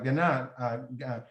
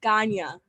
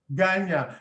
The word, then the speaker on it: Ghania: People like Ghana. I'm sorry, how do I pronounce it so I don't keep messing it up? No worries, it's Ghania. Ghania.